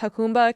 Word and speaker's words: Jacumba: So both reported that there was Border Patrol in, I think it's pronounced Jacumba, California, and they're picking up illegal immigrants and